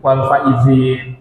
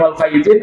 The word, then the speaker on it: wal faizin: wal faizinnya pakai zai, ya. Dan kemudian sudah kadang salah tulisan, salah juga memaknainya, mengartikannya. Biasanya Bu kalau disebut minal aidin wal faizin artinya apa Bu?